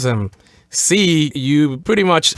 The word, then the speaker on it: sí: Sí, you pretty much pronounce them the way you say, I see something, or just like that. You would pronounce them exactly like you pronounce the word S-E-E in English.